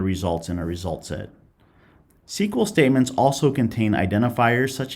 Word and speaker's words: SQL: SQL is pronounced SQL, and it's the standard language for accessing and manipulating data in a relational database.